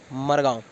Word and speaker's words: मेहरगांव: Record वो मेहरगांव है, और वहाँ और आसपास के गांव के लोग बोलते हैं मरगांव। तो बस ये थोड़ा उच्चारण में अलग सा लगता है, पर एक ही